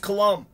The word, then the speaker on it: Colombe: torres versus michael colombe david torres versus michael collum looks like colombe but pronounced colombe this is the democratic primary for the congressional